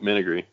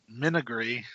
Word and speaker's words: menagerie: Nope, Menagerie. Menagerie.